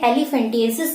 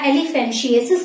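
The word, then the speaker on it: elephantiasis: इसमें क्या होता है कि पैर बहुत ज्यादा मोटे हो जाते हैं, एलिफेंटिएसिस जिसको बोला जाता है, या एलिफेंशिएसिस जिसको बोला जाता है। प्रोनाउंसिएशन का डिफरेंस है, आप जैसे उसे प्रोनाउंस करना चाहें।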